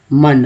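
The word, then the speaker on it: Monday: इसमें ओ का उच्चारण जो है क्या होता है, मंडे, मंडे, ओ का उच्चारण जो है अ के रूप में हुआ, सिर्फ ओ के बारे में।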